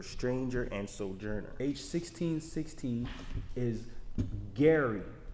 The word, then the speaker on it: ger: H1616 is Gary, which is very it's spelled G-E-R, Gary.